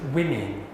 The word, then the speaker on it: women: It's women.